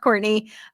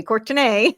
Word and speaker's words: Courtenay: And if you're listening and not watching, then it's spelled like Courtenay. It is pronounced Courtenay, although people sometimes like to say Courtenay.